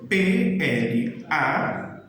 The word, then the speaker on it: playa: A Y ela sempre vai ter o mesmo som da letra I. Por exemplo, a palavra praia em espanhol, ela se escreve P-L-A-Y-A. Então eu falo playa, ok?